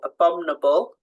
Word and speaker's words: abominable: when you spell it so abominable we don't say abominable so that I needs to be there when you're spelling it dictionary so the